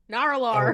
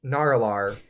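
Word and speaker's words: Nar'alor: It is spelled Nar apostrophe Alor. Naur'alor. Oh wow. Naur'alor.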